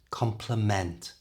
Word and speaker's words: complement: know the difference but compliment which is a polite expression of Praise is slightly stronger at the beginning compliment you try whereas compliment which means it completes something or makes it better has more stress at the end complement try that compliment